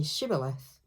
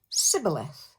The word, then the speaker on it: Shibboleth: Anyone who crosses the river, he will challenge to say the word Shibboleth, because any enemy who tries to say Shibboleth will actually say Sibboleth, because they can't pronounce the word properly.